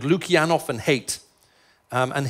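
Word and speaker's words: Haidt: people called lukanov and hate um and his name is spelled h AI DT not ha which is confusing when you're talking about hate but it's a it's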